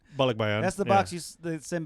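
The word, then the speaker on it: balikbayan: a bollock buy-in box is, I'm saying it wrong. Bollock. No, I think you're saying Bollock buy-in. bollock bayan.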